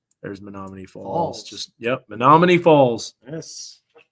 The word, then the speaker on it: Menomonee: Menomonee Falls just yep Menomonee Falls yes sounds like a beautiful we call this me no money that's how you spell it without the why me no money me no money falls Menomonee Falls but uh